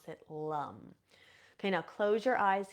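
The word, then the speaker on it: Lam: then we're going to intone the seed sound Lum it's spelled l m but we we pronounce it Lum okay now close your eyes here bring your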